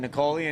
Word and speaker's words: Nicole: to the 920 Mark are you pronouncing the e at the end of Nicole's name yes I am in